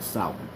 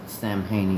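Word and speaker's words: Samhain: It's pronounced sour. It's not a first nor a last name. And it's not pronounced Sam Hayne either. It's pronounced sour.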